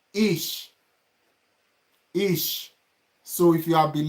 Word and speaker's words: ich: to be using 4 words, 4 examples, like ish. So if you have been learning German, you're supposed to know what is ish. ICH. If you know what is ICH, write it on the comment section. ICH, ish.